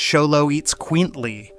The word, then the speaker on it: Xoloitzcuintli: It's pronounced Xoloitzcuintli, or you can just call it a Xolo like a normal person.